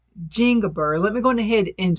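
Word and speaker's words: Zingiber: So, to grow the most common variety, which is called Jingiber, let me go ahead and spell that for you.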